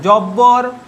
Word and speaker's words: জব্বর: সঙ্গে বয়ের যোগ মানে জব্বর, দেখো জব্বর, বর্গীয় জ, বয় ব র, জব্বর, দুটো বয়েরই উচ্চারণ হচ্ছে। দেখো একটা ব কিন্তু বফলা আর একটা ব হচ্ছে বর্গীয় ব, জব্বর, দুটো বয়ে কিন্তু উচ্চারণ হচ্ছে।